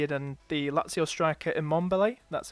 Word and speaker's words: Immobile: I've got Mbappe already, but I put Messi in and the Lazio striker Immobile. That's how you pronounce his name. Immobile, yeah.